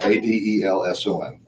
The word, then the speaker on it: Adelson: Actually, it's spelled right. I said it wrong. Adelson.